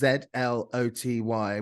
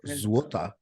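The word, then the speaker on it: złoty: the currency of Poland is pronounced ZLOTY, which I thought was zloty until I actually found out yesterday it's pronounced złota.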